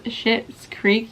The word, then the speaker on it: Schitt's Creek: So it is the Lion brand's Schitt's Creek yarn, which Schitt's Creek is a show. I promise I'm not cussing at you. It is spelled SCHITT' Creek, and it is a show